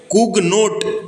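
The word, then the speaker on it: Cugnot: कुगनाट लिखा है। तो वही मैंने बताया, इंग्लिश में नाम रहते हैं, हिंदी में छपते हैं तो गड़बड़ हो जाते हैं प्रोनाउंसिएशन की वजह से।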